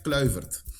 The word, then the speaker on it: Kluivert: Patrick, yo yo escuchado las pronunciaciones diferentes. Kloivert, Kluivert, ¿cómo se dice? ¿Cómo lo diría? En holandés decimos Patrick Kluivert. Clo. Okay. Como Cierto. Kluivert.